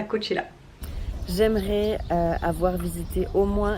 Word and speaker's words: Coachella: Coachella, ça s'écrit, mais ça se dit Coachella.